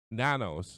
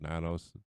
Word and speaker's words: Nanos: And this jerk, this Sheriff Torgo, is Nanos. I know his name is Nanos. Rhymes with Manos.